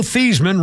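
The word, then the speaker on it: Theismann: still makes me cringe Joe theeman rhymes with heasman was creamed by Lawrence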